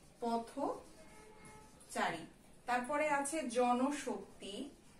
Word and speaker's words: জনশক্তি: তারপরে আছে জনশক্তি, এই নয়ের সঙ্গে একটা কি আছে? নয়ের সঙ্গে কিন্তু একটা আমাদের ও যোগ করা আছে, স্বরেও যোগ করা আছে, তাই এটার যে উচ্চারণ হবে জন শক্তি।